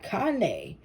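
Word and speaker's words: Kāne: was important all right Kane life force energy hydrate and nourish your body good health is returning oh it's cane Cain pronounced cop no sorry Kanye forgive me Kanye is a major Hawaiian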